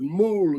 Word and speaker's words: mul: It is pronounced like a jackass, like a mule. Instead of spelling it MULE, the spelling is MOOL, mul, and that means to be circumcised.